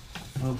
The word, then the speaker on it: Moog: And here it is, the beautiful Moog Sub 37. And I know it's pronounced Moog, but I hate saying Moog, so I say Moog, because that's how it should be.